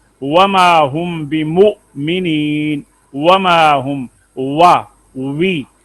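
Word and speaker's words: واو: Making lips round, wow pronounced as wow, pronounces wow by making lips round.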